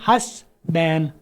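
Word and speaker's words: husband: अच्छा, आगे ये जो वर्ड है इसको आपने हस्बैंड आमतौर पर पढ़ा हुआ है। इसको आपने जैसे बॉयफ्रेंड में डी को हमने साइलेंट कर दिया था, तो इसमें से भी मैं डी साइलेंट कर दूंगा आखिर वाला। ये क्यों है ऐसा? आई डोंट नो, लेकिन मैं बता रहा हूँ होता ऐसा है। 20 साल अंग्रेजी सुनी है, इसको आप बोलेंगे हस बैन, हस बैन।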